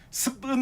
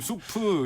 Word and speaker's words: 수프: 스프 같은 느낌 나니까 약간 좀 더 뭐랄까 외국스럽게 발음한다고 습은 뭐 드릴까요? 약간 이렇게 발음하시는 분도 계시죠. 아, 그래요? 습 뭐 드시고 싶으세요? 뭐 이렇게 발음하시는 분 계신데 되게 좀 이상한 발음이죠. 발음이 꼬아져서 이상하게 굳어진 그런 발음인데 원래는 수프 이런 식으로 우리나라 외래어 표기법에서 표기했는데 예.